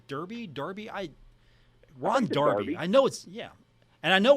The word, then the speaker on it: Darby: me up on this someone said Ron Darby not Derby How Could You mispronounce his name history Paul you're right